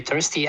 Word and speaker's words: thirsty: Well, you should maybe try to pronounce the word, this one, thirsty, a little better. Can you do Thursday. it? Thirsty? Thursday, I'm saying it. Thursday. Well, try to say th.